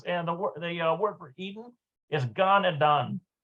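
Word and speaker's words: גן עדן: I keep wanting to say it in the Hebrew sense because the word for Eden is Gan Eden. Gan Eden, that's how you pronounce it in Hebrew.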